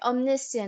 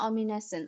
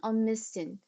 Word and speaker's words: Omnisian: Omnisian not omines. Omnisin.